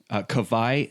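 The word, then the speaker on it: Kawai: bucks what's his name Cabaye strong Washburn okay but kovai is spelled ka w AI so of course we're from Hawaii yeah the Hawaiian W is pronounced like a V okay German W yes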